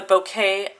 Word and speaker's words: bokeh: Today we are going to do the bouquet technique.